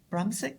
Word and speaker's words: Brumsic: Brumsic Brandon Jr.